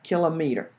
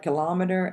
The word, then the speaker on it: kilometer: in the metric system the kilometer is pronounced kill a meter okay I know a lot of it collared kilometer and I was guilty of that for a long time until I learn more